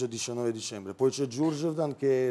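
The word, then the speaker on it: Đurđevdan: Com'è la pronuncia? Giurgeptan.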